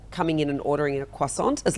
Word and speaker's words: croissant: I think the traditional French pronunciation would be quas, but in Australia, it's very common to say croissant. And I'm not one to judge someone for coming in and ordering a quissant.